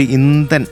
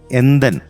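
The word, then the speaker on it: எந்தன்: First പലവിൽ ഇന്തൻ ഇന്തൻ എന്ന് പാടി. ഇന്തൻ ആ എന്തൻ എന്ത് നീനൈവേ നീനൈവേ എന്തൻ നെഞ്ചോട് കലന്ത് വീട്, അതാണ് എന്തൻ കേട്ടാ.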